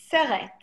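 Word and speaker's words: סרט: The word is seret. Seret. And it means movie. And for those of you, again, writing these down phonetically, you would say S-E-R-E-T. Seret. Seret.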